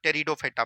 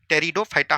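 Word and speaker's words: Pteridophyta: ब्रायोफाइटा और एक आपका था टेरिडोफाइटा। पी जो है साइलेंट रहता है। याद रखनी है। टेरिडोफाइटा होता है।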